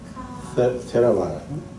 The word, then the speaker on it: Theravada: some minor difference between the Mahayana and the Theravada. It's Theravada? Theravada? Okay, Theravada. Yeah. Yeah, Theravada.